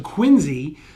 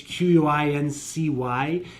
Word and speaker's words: Quincy: So Quincy, there's a hard Z in Quincy. No, there isn't. When you spell it out, it's Quincy, and we don't pronounce it Quincy.